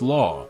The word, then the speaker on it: LAW: cases there were the M72 law pronounced law an American and the